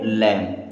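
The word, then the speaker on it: lamb: पढ़ते हैं राइट अब एल ए एम बी तो बी हो गया साइलेंट अब इसे पढ़ेंगे लैम क्या पढ़ेंगे लैम के एन आई जी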